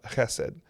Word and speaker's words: hesed: You brought up that Ruth is a story about Hesed. Yeah. And and that is. Thank you for pronouncing it correctly.